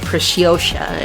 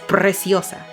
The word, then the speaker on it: Preciosa: Yeah, Preciosa, if you gringos want to pronounce it like that. Preciosa. It's Preciosa.